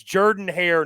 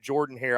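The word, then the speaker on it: Jordan-Hare: when you're going to get humble but it's Jordan hair not Jordan hair I want all the Auburn folks watching to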